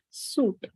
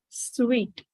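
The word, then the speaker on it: suite: and the last word this is sweet this is not suit this is always pronounced as sweet right now considering other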